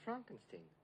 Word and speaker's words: Frankenstein: who doesn't know he is hunchbacked no it's pronounced Frankenstein of course I'm sure we'll get along splendidly